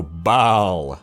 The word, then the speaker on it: Baal: Now, I pronounce it Baal and not Baal because of the obvious name pun, because goats go ba, so Baal.